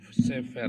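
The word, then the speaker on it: סֵפֶר: Ini bacanya Sefer ya.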